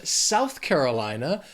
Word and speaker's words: South Carolina: Then we have South Carolina. These words together have 5 syllables, but the stress is going to be on that second word, that Carolina, that third syllable.